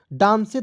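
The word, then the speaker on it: dance: बोरे तो नहीं पढ़ा डां से तो नहीं पढ़ा अंतिम में ई है तो इसको हमने साइलेंट कर दिया ठीक है तो डी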